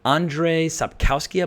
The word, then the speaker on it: Andrzej Sapkowski: collection of short stories the last wish from Andrzej Sapkowski ibly that's how you say his name these